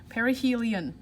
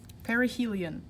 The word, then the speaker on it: perihelion: called perihelion perihelion and that is pronounced like this per e perihelion perihelion and that means earth